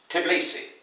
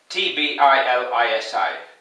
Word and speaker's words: Tbilisi: Tbilisi, I think that's how you pronounce it. It's spelled T-B-I-L-I-S-I.